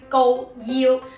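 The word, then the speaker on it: 高要: 東肇慶，普通話並唔係讀交休，係讀交休。粵語亦都係讀第一聲高腰。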